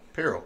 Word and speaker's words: Pirro: How do you pronounce it? Pirro.